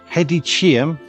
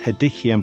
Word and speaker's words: Hedychium: All of them are exclusive to the hedicium, sometimes pronounced hedikium, but I don't like the way that sounds, genus.